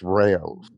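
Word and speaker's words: Rao's: I don't know if you've heard of Rouse. They make a spaghetti sauce. No, I haven't. So they make pizza now, like frozen pizza. I believe it's pronounced Rayo's.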